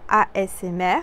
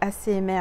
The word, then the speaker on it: ASMR: vidéo en assez en je vais essayer de le prononcer bien parce que je crois que je le prononce mal on m'a dit en asmr voilà asmr je assez émer en fait c'est asmr je suis arrivé on m'a repris et ben je sais le dire maintenant donc c'est asmr voilà donc